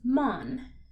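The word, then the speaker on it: Mann: for example in German the word man is Mun which first off sounds very simple and second they're spelt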